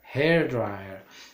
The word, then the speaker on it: hair dryer: dry not hair dryer hair dryer stress on the first syllable that room indoor swimming